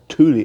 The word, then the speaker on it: Thule: It's called Thule Air Base.